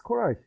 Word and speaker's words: Koray: But it's Koray.